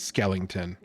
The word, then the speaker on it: Skellington: fact check this um it is Skellington I was having a real like Mandela effect moment I was like oh my God have I been mispronouncing this my entire life and no one has